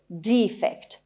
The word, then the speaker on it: defect: خب استرسش اولش هست و اینجا ای داره با صدای بلند تلفظ میشه. defect. البته من این کلمه رو در دیکشنری های مختلف دیدم. در دیکشنری مکمیلان دیدم، لانگمن دیدم، آکسفورد دیدم. توی یکی از این دیکشنری ها ما دیفکت هم داشتیم، یک تلفظش، ولی در اکثریت اونها به شکل دیفکت این رو تلفظ میکردن.